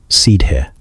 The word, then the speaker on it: Sidhe: Sidhe, pronounced like she, meaning the fairy folk,